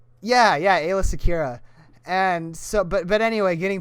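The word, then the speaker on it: Aayla Secura: Or it's like Ayla Sakura. Yeah, Ayla Secura.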